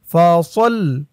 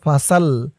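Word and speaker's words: فصل: পরের আয়াত ফা জবর ফা, সদ দিয়ে লাম ধরবে, সদ লাম জবর সল, ফাসল। অনেকে বলে ফাসাল, ফাসাল বললে এই সদের জায়গায় সিনের উচ্চারণ হয়ে যায়, বলতে হবে ফাসল, সল, ফাসল।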